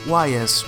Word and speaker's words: Ys: In this year Falcom released the first installment of its popular, long-running Ys series. (pronounced: Ees) Besides Falcom's own Dragon Slayer series, Ys was also influenced by